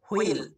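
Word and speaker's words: wheel: এই ওয়ার্ডটা একটু ভালোভাবে লক্ষ্য করবে, ডাব্লিউ এবং এইচ এই দুইটা বর্ণ দুইটা সাউন্ড দেয় উ বা হ। যদি তোমরা অক্সফোর্ডের ডিকশনারি ফলো করো সেখানে উ সাউন্ড পাবে, আর যদি ইন্ডিয়ান ডিকশনারি ফলো করো সেখানে হ সাউন্ড পাবে। এটা আমরা উইল উচ্চারণ করি, উইল মানে চাকা, আবার অনেকে হুইল এটা উচ্চারণ করি, হুইল মানে চাকা। তো দেখো এখানে কিন্তু দুইটাই উচ্চারণ আমরা ভুল বলতে পারবো না।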